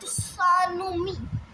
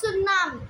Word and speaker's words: tsunami: It's not tanomi. Okay, it's tsunami. T is silent over here.